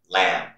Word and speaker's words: lamb: Rule number one, the letter B is not pronounced after the letter M at the end of a word. For example, bomb, tune, comb, thumb, climb, lamb.